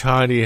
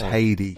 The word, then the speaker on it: Heidi: Did you teach Heidi how to DJ? You're actually pronouncing her name wrong. Her name's Heidi.